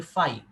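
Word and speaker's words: φ: এটাকে আমরা বলি, দেখো সিম্বলটা হয় এরকম, এটাকে আমরা বলি ফাই, ঠিক আছে, PHI ইংরেজিতে বললে।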